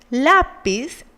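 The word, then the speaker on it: lápiz: must carry an accent the same happens with the word lapis lapis ends in Z so it should have the intensity in the last syllable like noddies and the piece but it has it in the penultimate so it must have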